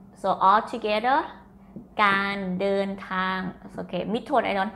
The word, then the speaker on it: การเดินทาง: this one this word can you read the d sound and this is a sound with the n เดินทาง so all together การเดินทาง okay mid tone I